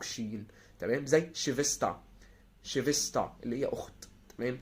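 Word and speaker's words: Schwester: زي تاني حاله اللي تسيها لو جه قبلها اس تنطق شين، يعني الاس تسيها على بعضها تنطق شين. تمام، زي شيفستا.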